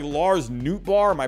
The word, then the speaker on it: Nootbaar: Even someone like Lars Nootbaar, am I pronouncing that right?